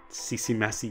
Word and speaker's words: Ccmaci: you bounce it I think C seem masse CC messy yes it's the Makai in my bed everyone